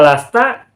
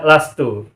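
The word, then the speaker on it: لستُ: Nah, sehingga tidak mungkin dibaca lasta, tidak mungkin dibaca lasti. Nah, kata negatif untuk saya, anak, adalah lastu. Sehingga bacanya bukan lasta, bukan lasti, tetapi la lastu.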